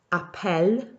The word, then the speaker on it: appelle: It changes the E sound, the sound of the letter E, by changing how many L's there are. So inside the boot, you've got two L's, and it's pronounced appel. Outside of the boot, there's just one L, and that changes it to more of an appel.